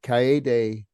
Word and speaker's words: Kaede: bring up um lady I I may be pronouncing it wrong it's been a while since I saw the movie lady Cay from kurosawa's Ron yeah is correct oh man